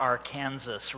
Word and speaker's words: Arkansas: Funny thing is, though, I don't know where you guys got your pronunciation. They pronounce it correctly there, Arkansas River.